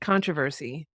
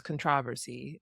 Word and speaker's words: controversy: controversy controversy controversy yeah so the second syllable is emphasized so that's what messes